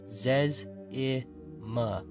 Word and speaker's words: Zezma: He corrected everyone by explaining that his name is pronounced Zez-I-Ma, because over the years there had been so many silly pronunciations of his name.